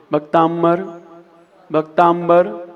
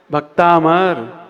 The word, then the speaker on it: भक्तामर: ता के ऊपर कोई बिंदी है क्या? नहीं ना। तो हम भक्ताम क्यों बोलते हैं? भक्ताम्बर, भक्ताम्बर, ये बिंदी का उच्चारण क्यों आता है हमारे पहले अक्षर में? आप लोग क्या पढ़ रहे हैं? हाँ, क्या पढ़ रहे हैं? भक्तामर। बिंदी का उच्चारण आया कहीं? भक्तामर। क्या पढ़ रहे हैं आप लोग? हाँ, ये 95% गलत बोलते हैं लोग, पहला ही अक्षर।